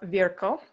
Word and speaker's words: Virchow: sure we all remember rudolph virgo which is apparently how you pronounce virchow the most influential pathologist